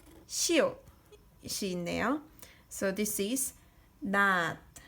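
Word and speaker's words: 낮: So 나 plus ending consonant 지읒 is not. Not is daytime, daytime. So not, sickle, not, daytime. Same pronunciation is but different means.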